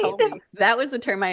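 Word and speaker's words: haole: Howley. That was the term I had Yeah. heard. So So I right, was like, oh, yeah, it's phonetically almost said like how o lee.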